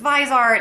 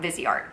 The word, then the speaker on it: Viseart: to pronounce Vizart because I was thinking it was Visart and then she was like, she sent me like the pronunciation. So, I think I'm pronouncing it right now. Vizart.